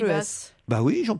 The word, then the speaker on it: Paribas: On prononce le S. Paris-Basse.